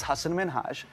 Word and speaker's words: Hasan Minhaj: Because everyone that says your name says Hasan Minhaj. Yeah, but the real way you pronounce it, and this is a big deal because my parents are here, it's Hasan Minhaj.